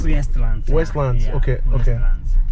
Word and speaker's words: Westlands: I think it's called, I keep saying Westland, but I hear you pronouncing it differently. Yeah, it's Westlands. Westlands.